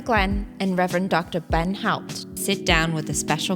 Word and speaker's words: Haupt: Haupt. I always hear you pronounce it correctly.